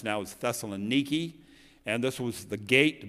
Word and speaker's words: Thessaloniki: we call it many times in the bible thessalonica is actually the way it's pronounced now is thessaloniki and this was the gate back in roman